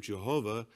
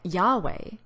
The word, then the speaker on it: Yahweh: we use the name Jehovah because it's widely recognized in English is this a reasonable position to take yes so he admits that the Divine name isn't pronounced Jehovah but something more like Yahweh and the reason given